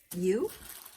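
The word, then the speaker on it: ewe: U? Is that? Like a U, like a sheep? E-W-E. Is that how you say it?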